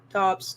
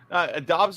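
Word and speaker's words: Doubs: Dobbs. Okay, that's not how that looks, but all right.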